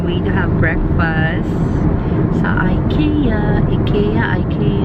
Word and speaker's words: IKEA: Anyways, we're on our way to have breakfast sa Ikea. I really don't know how to pronounce it. Ikea. Oh, yun daw. Ano? Ikea. Oh, Ikea daw. Sabi niya.